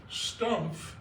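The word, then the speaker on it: Stumpf: out of Boden and they don't pronounce the F it's stump so when they came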